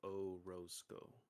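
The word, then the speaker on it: Oroseco: I always tell students it's phonetically it's O then Rose like the flower and then Co like company so O roseco roseco Okay hell yeah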